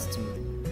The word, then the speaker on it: stew: We have STEW, stew, like rice and stew. Okay, it's pronounced stew. It's an oo sound.